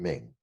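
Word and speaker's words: 鳴: It had a pronunciation Ming. Ming is the pronunciation of the verb to call.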